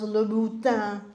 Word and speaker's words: Louboutin: before you buy those Louboutin shoes, and that is the correct pronunciation, they don't even know how to pronounce it.